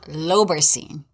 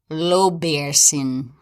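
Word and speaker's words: lobaircin: print it's spelled l-o-b-a-i-r-c-i-n google told me it was pronounced low beer sin like lobe bear sin low bearson then why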